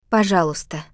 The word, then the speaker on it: Пожалуйста: The pronunciation can trip people up. The И кратко. in the middle is like the silent K in the English word, knife. It's there in the spelling, but you just hop right over it when you speak.